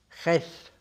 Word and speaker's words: Jess: Y al cabo de unos días me dijeron que bueno, que por una vez que me autorizaban a llamarme Ges, que es como ellos lo pronunciaban, Ges Franco.